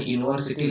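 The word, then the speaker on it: university: ಹಸ್ತೀವಿ ಹಿ ಇಸ್ ಆನ್ ಯುನಿವರ್ಸಿಟಿ lecture so ಇಲ್ಲಿರುವಂತ ಆನ್ ಬಾಜು ಏನಿದೆ ಯೂನಿವರ್ಸಿಟಿ ಇದನ್ನ ಕನ್ನಡದಲ್ಲಿ ಉಚ್ಚಾರ ಮಾಡಿದಾಗ ಯರ ಲವ ಯ ಅಂದ್ರೆ ಯ ದಿಂದ ಉಚ್ಚಾರ ಆಗುತ್ತೆ ಅಂತ ಎಲ್ಲ ಪದಗಳಿಗೆ ನಾವು ಆನ್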